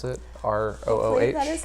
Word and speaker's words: Rooh: What I've read about the Roo place, if that's how you pronounce it, ROOH.